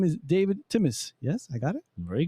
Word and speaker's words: Timis: His name is David Timis.